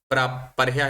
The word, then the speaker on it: पर्ह्यः: अद्य सोमवासरः, ह्यः रविवासरः, पर्यः शनिवासरः, प्रपरह्यः शुक्रवासरः। केवलं नाम भवत्याः ह्यः इति उच्चारणे दोषः आसीत्। परयः परयः वदति पर्ह्यः इति तु किञ्चित् सम्यक् आसीत्, ह्यः भवति अर्धः तदनन्तरं या विसर्गः।